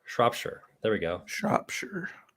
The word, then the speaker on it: Shropshire: Rory breaks so shrop shrop is pronounced but the oh sign like the Owen shop and the Shire sounds like sure so it'd be more sure Shropshire there we go shop